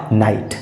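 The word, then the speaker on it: night: जीएसटी एन आई जीएसटी जैसा कि जी एसटी नियम कहता है जीएसटी आता है किसी शब्द में तो जीएच साइलेंट होता है और इसमें एन आई जीएसटी में जीएच साइलेंट है और इसका सही उच्चारण हो जाएगा नाइट इसका सही उच्चारण हो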